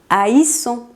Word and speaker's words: haïssons: En las otras 3, separamos la A de la I y se pronuncia AI. Je hais. Tu hais. Il, elle, on hait. Nous haïssons.